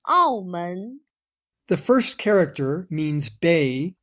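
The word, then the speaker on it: 澳门: Its Chinese name is written like this and pronounced Aomen.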